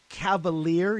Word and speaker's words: Cavaliere: But we've got Mark Cavaliere right now, and that's the way you pronounce his name, Cavaliere.